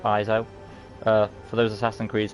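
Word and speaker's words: Ezio: is you know e-z-i-o so i believe everything is pronounced iso uh for those assassins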